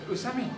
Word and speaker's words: Usami: Usami. Usami. Japanese. Yeah. Japanese pronunciation. Never long.